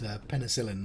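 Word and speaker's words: penicillin: It's penicellin. That's how you pronounce that word.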